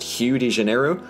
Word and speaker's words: Rio de Janeiro: make very little sense, apparently Rio de Janeiro is supposed to be pronounced Rio de Janeiro. And to that I ask one question, and that is, what did the letter R ever do to you guys?